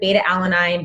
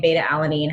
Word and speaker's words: beta-alanine: The reason our Energize is so effective is the beta-alanine, and you can pronounce it beta-alanine, beta-alanine, however you want it.